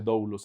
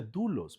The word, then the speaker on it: doulos: teólogo va a decir no se pronuncia doulos se dice dulos pastor puede ser cualquiera de las dos no hay ningún problema